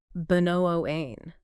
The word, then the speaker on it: bemoan: Two syllables. Stress on the second. Benoain.